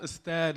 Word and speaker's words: Astead: see y'all um also respectfully it's pronounced aad unfortunately one of my